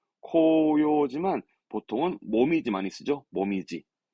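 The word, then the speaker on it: 紅葉: 모미지. 이 모미지 발음 특별 발음입니다. 모미지.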